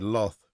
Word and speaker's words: loth: to do for themselves she pronounced the word Loth as as if it rhymed with moth Lizzy he said I'm